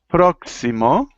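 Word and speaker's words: próximo: second there we are proximo proximo sounds it sounds like a KS it's like saying proo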